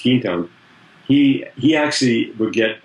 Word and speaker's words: Quinton: the early 1900s uh and that's Quinton q-u-i-n-t-o-n to pronounce quintone he he actually would